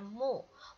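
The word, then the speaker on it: 目: Kemudian yang baris kedua di sini ini tulisan ini bacanya mu.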